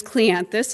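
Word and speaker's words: Cleanthes: Last name is Cleanthus. It's Greek. It's spelled clean like you clean your house, and then T-H-E-S. We got an injunction over this.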